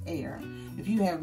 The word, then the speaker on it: Ayr: have not tried air as you can see it's Ayr but it's pronounced it's like air that's I was pronounced air if you have not